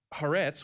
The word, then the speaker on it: Haaretz: But that's not the case, because Israel, according to Haaretz, which is I believe that's how you pronounce it, it's an Israeli news outlet, Israel has reportedly provided direct aid and funding to Syrian rebels.